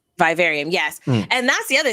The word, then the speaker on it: Vivarium: Vivarium. It's kind of say it. Go ahead. It's in the room requirement, but it's called the Vivarium. Vivarium, yes.